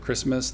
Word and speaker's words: Christmas: Like we saw previously with Christmas, the H is not pronounced, the T is not pronounced, and so there was zeros.